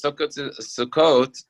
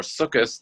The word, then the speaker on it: Sukkot: sukkot and we all know what sukkot is sukkot or sukkus the way whichever way you pronounce it is the holiday that commemorates the